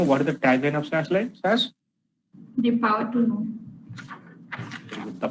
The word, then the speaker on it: SAS: And I told you we should pronounce it as a SAS. This is how we should pronounce it.